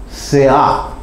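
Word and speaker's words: סְאָה: 이게 히브리 말로는 뭐라고 그러냐면 스아. 이제 우리말 무식한 발음으로 하면 스아예요. 스아. 근데 이제 헬라 발음으로 하면 세아.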